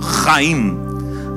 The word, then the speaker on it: Chaim: Chaim, olha aí, esse CH não se pronuncia Chaim, se pronuncia arrastando, Chaim.